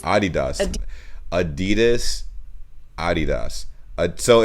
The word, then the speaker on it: Adidas: they were referring to because they usually pronounce it adidas yeah and in germany we say adidas adidas adidas adidas so it's